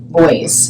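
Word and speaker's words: Beuys: guiding us with Joseph boys boys Joseph boys that's how I pronounce it Joseph Boyce voice I'm going to say boys and he is a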